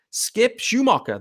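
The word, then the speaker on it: Skip Schumaker: about the managerial hire skip Schumacher that is the pronunciation by the way um according to Marla's Twitter as well there's obviously there was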